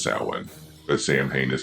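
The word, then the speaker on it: Samhain: And I know that Sam Hayne is actually pronounced sin, but Sam Hayne is how it was pronounced in the series, so that's how I pronounce it here.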